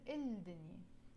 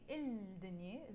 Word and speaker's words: الدنيا: But we don't pronounce الدنيا because it starts with the letter dal, and the letter dal is a sun letter, حرف شمسي. And because it's a حرف شمسي, which is a sun letter, we drop the pronunciation of the lam. Instead of saying الدنيا, the world, we will say الدنيا.